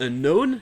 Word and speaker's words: unknown: Et même chose dans les dérivés de ces mots, comme par exemple dans "unknown" qui vient de "know" le "k" ne se prononce toujours pas.